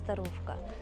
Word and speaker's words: Starówka: Among the locals the Old Town is called "Starówka" (pronounced as Staruvka).